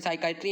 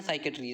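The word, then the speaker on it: psychiatry: इसको कैसे दो तरह से बोलते हैं, साइकाइट्री या साइकेट्री। जैसे इंग्लिश और यूएस जो इंग्लिश है, यूके और यूएस की इंग्लिश है, उसमें इसको साइकेट्री और साइकेट्री इस जैसे प्रोनाउंस करते हैं।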